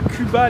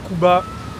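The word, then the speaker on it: Kouba: Ah, c'est comme Cuba. Ok, on est à Cuba, les gars. Ah, K-O-U-B-A. Ok, on est à Cuba, les gars.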